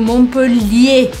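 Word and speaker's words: Montpellier: essa de propósito porque em montpelier a gente tem dois l e um I mas eu falo montpelier pronunciando bem o l agora em Marseille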